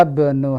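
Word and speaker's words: ابن: Hamzah wasal kaidahnya adalah dia dibaca di awal tapi tidak dibaca di tengah. Sehingga ketika di tengah seakan-akan dia tidak ada. Ada tulisannya tapi tidak dibaca. Jadi langsung hadzab. Jadi tidak boleh salah kalau kita baca hadza ibnu Hamidin.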